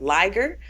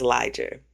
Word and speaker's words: Liger: So my last name is, I accept two pronunciations. I accept Liger, but my family also says Liger. And why do I accept Liger? Because Liger is a magical animal.